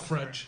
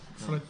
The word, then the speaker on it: Fred: It's called Fredge, actually. No, it is. Yeah, it is. That's how you pronounce it. Do you? Fredge. Oh, God. Like a fridge, but with an E.